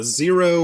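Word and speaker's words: Xero: and uh finally did so it's this uh zero which is spelled x e r o w i it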